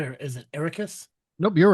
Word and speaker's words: Arrakis: The most important planet is Arrakis. A desert world Did I pronounce that right or is it Arrakis? Nope, you're right. Arrakis.